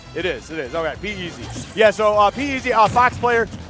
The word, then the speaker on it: PeZ: Pikz, and you said pronounced PeZ. I think it's PeZ, right? It is. Okay, PeZ.